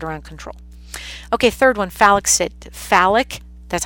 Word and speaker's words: phallic: Okay, third one, phallic, that's how you pronounce it, phallic stage.